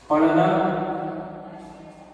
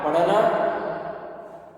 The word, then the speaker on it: पढ़ना: और धा बोलते हैं, लेकिन जब इसका उच्चारण करेंगे तो ये हमारे क्या हो जाएंगे? रा रा। ये क्या हो जाएगा? रा रा। जैसे एग्जाम्पल देखिए, पढ़ना, ड़ा पढ़ना।